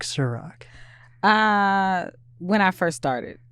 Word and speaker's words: Sa-Roc: roll off the tongue they want to say sorak i'm like no it's rock yeah there we go